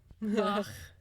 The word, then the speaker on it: Bach: Bach. That's how you say it, actually. In the German, you say Bach.